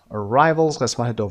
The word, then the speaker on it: arrivals: stress syllable number one arrivals arrivals the second syllable number two opposite by